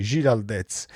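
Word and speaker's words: Giráldez: Credo che si pronunci così perché ha un grande accento sulla, quindi Giraldez, allenatore del Celta Vigo.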